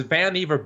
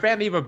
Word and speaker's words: Vannevar: Right, but Vannevar Bush, whose name rhymes with Beaver, by the way, he had the whole thing about that in his childhood.